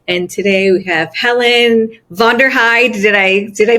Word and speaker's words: Vonderheide: I'm your host, Jesika Miller, the mind trainer, and today we have Helen Vonderheide. Did I pronounce it correctly?